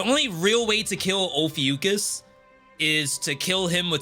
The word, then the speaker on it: Ophiuchus: true way to kill Ophiuchus. I think that's the right pronunciation. The only real way to kill Ophiuchus is to kill him with his own magic.